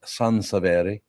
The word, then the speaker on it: Sansevere: You know his name is actually pronounced Sansevere.